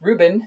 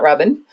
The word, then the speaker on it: Ruben: think that's really interesting everybody was mispronouncing his name so he changed the spelling and the capitalization to make it obvious that it's Ruben not Robin anyway and he's in